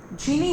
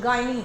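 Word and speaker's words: gyny: आ जाओ, जब आप साइंस पढ़ोगे ना, तो साइंस पढ़ोगे कि ये जो वर्ड है ना, जीनी होता है कई जगह से प्रोनाउंसिएशन गायनी होता है, जहां दिख जाए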